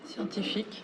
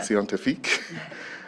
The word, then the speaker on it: Scientifique: She's a senior researcher at the Centre National de la Recherche Scientifique. Is that how you pronounce? Scientifique, yeah. Scientifique.